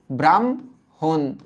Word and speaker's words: ব্রাহ্মণ: বেলায় উচ্চারিত রূপ হয় এখানে লিখিত রূপে হ আগে আসছে ম পরে আসছে বাট যখন আমরা উচ্চারণ করব তখন কিন্তু ম আগে আসবে হ পরে যাবে যেমন এইটার উচ্চারিত রূপটা